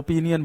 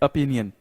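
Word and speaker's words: opinion: ओपिनियन याद रखना student इसको कई लोग गलत प्रोनाउंस करते हैं पिनियन बोलते हैं ओपिनियन नहीं होता इट्स ओपिनियन ओपिनियन ओके उसका इंटेंशन अभी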